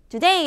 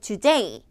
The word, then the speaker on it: today: 보시겠어요 어떻게 발음 하실까요 today 아셔야 되죠 여러분들 today today today 아고 하셨을 거예요 아마 대부분의 분들이 today 아니라 today 정확하게 무게 중심이 뒷부분에 쏠려 있어요 today today 그래서 요거를